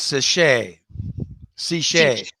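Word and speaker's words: Sicce: and then canisteo valley cichlids is saying it's pronounced sashay c oh my goodness yes i left a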